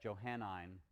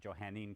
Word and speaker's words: Johannine: And we're going to call that Johannine Christianity, or some people might pronounce it Johannine Christianity. It's the same thing.